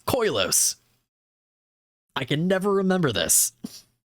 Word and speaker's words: Koilos: Caves of Koilos. I don't know why I subconsciously am always adding an extra I in there. It's not Koilios, it's Koilos.